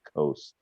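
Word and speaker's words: Ghose: it's spelled like bandana but the A's are pronounced more like an O such bandana okay and her last name is coast g-h-o-s-e anybody else we have um something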